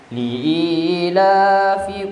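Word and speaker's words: لِإِيلَافِ: Jadi di situ Bapak Ibu terkadang orang membacanya itu dia baca pi padahal fi. Jadi huruf fi itu Bapak Ibu bibir bawah menyentuh gigi seri atas. Jadi bacanya fi bukan pi.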